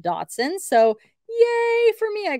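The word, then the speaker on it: Dachshund: a uh Datsun I always want to say dash hound but it is pronounced Datsun so yay for me I got it right I think I said it right it's from 2006.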